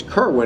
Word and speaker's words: Kerwin: that the reason his name is kerwin is because that rhymes with berwyn pretty clever huh not